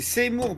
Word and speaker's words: Seymour: C'est Seymour, pas Zemmour. Hein. Ah, il l'a prononcé Zemmour, hein. Peut-être, mais c'est Seymour.